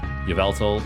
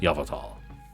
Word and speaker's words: Yveltal: Yveltal, I guess, is how you technically pronounce him. I watch M&J TV a lot, and it's Yveltal.